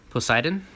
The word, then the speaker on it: Poseidon: Poseidon.